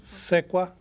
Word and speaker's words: Sequa: That would be, how do you pronounce the last name? Sequa. Sequa.